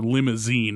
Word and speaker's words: Limousin: cattle we raised were limousine and it's spelled differently than the car but it's pronounced the same and i remember my